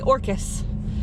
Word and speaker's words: Orcas: closet orcas alright guys that's how it's spelled but they all say orcas like orchid anyway I think we're